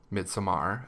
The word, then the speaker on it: Midsommar: Midsummer. Midsommar, as phonetically written out. Or as the sophisticated might say.